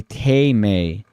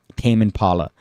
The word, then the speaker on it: Tame Impala: pronounced Tame Impala and both times it's like Lion taming but they say te Mei for some reason no that's a loser if they say tame it's tame Tame Impala even though it's one